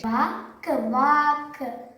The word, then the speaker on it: walk: Walk, walk.